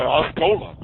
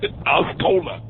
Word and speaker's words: Osceola: I call it Osceola. That's what it looks like. Osceola.